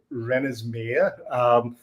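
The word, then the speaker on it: Wrenasmir: So I go under the name Rennersmeer, which is spelled W-R-E-N.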